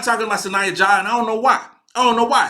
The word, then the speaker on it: Sahnya Jah: Sahnya Jah. That's how it's pronounced.